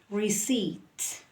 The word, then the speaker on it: receipt: ceiling by the way this one is silent P that is silent p uh receip receipt again receipt all right